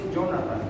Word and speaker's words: Jonathan: Sí, es Jonathan, porque es cuando en el acta de nacimiento, anotaron mi nombre, se escribe con TH. Porque era TH, entonces se pronuncia como en inglés.